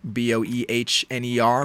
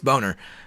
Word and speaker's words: Boehner: is bill boner uh that's boner spelled like boehner b-o-e-h-n-e-r but i just have